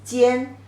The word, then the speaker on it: 煎: Remember this top, it means front, 前, forward, 前, and gives you the pronunciation, and this lower part gives you the meaning. Remember the 4 dots means fire. So together the pronunciation is 煎 means pan fried.